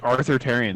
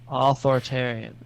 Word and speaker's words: authoritarian: saying it like that you're saying it wrong i'm saying it you're like arthritarian that's what it sounds like authoritarian no it's pretty authoritarian